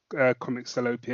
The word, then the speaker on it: Comics Salopia: I'm glad you said Comic Salopia, because in my head, I still wasn't 100% sure of how to pronounce Comic Salopia.